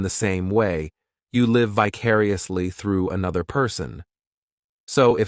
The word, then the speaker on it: vicariously: This adverb has 5 syllables, and the stress is on that second syllable, vicariously. The third syllable, it's like that letter I just has that E sound, and the fourth syllable has the schwa, vicariously.